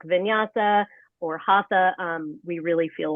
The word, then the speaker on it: Hatha: Hatha is what we typically call it.